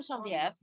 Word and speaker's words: Genevieve: So I'm Genevieve.